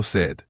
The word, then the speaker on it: sed: say I am thirsty you would say Dango said to express that you're thirsty Tango said yes